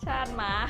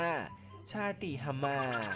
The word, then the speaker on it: ชาติ หมา: คุณ ชาต หมา หรอ แน่ นอน ว่า หลาย ๆ คน อาจ จะ อ่าน ชื่อ ไป อีก แบบ นึง แต่ จริง ๆ แล้ว ชื่อ นี้ อ่าน ว่า ชาตี ฮามา ชาตี ฮามา หมา แต่ อย่าง ใด ใคร ๆ อ่อน ก็ ต้อง ออก ว่า ชาติ หมา นะ คะ 35 คุณ ชัยยุทธ พรหมจารี